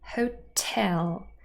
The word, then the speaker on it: hotel: Let's look at one more example for this, the word hotel. Here, the second syllable is stressed, so we have the apostrophe just before.